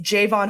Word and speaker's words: Javon: It's Javvon Hargrave, not Javon. We've definitely said it wrong on here before, and I just wanted